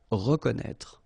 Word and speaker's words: reconnaître: So exactly the same thing with this accent circonflexe on the top of E. You don't pronounce it, okay, but you should write it. Reconnaître.